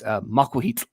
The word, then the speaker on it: Macuahuitl: But for gaming with ADHD, it's Macuahuitl. That's how you say it.